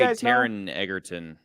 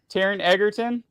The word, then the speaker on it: Taron Egerton: I would say Taron Egerton. Taron Egerton?